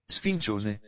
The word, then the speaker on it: Sfincione: I pulled up how to pronounce, and I'll see if you can hear this. Sfincione. I hear it, but I can't repeat it. Sfincione.